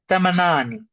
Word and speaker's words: thamanini: And next is tha the H tha. It's a little bit more forward than tha the DH. Tha tha. Thamanini.